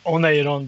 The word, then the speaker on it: Oneiron: I mean, this Oneiron, it's in Finnish Oneiron, because stress the first syllable.